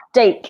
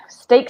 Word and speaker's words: steak: this is stay okay it rhymes with cake and make and bake cake make baked okay not stuck it's not take steak steak steak steak I will